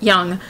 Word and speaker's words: Jung: Now, Carl Jung, or Jung if you want to do the American pronunciation, but we'll go with his native one of Jung.